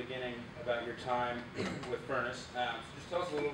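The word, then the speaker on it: Phurnace: what he's referring to is a company called furnace software it's spelled with a ph p-h-u-r-n-a-c-e crazy cool name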